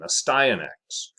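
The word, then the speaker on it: Astyanax: see an x a stionx there you go pronunciation a styanx in mexico independently evolved a pale body color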